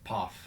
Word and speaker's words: Pfaff: Pfaff. Pfaff. Yeah, like dog's paw with an F.